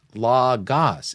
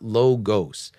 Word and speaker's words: logos: learn Greek okay because it's Omicron Omicron it is not omega omega so it is pronounced La Goss it is not logos all right just so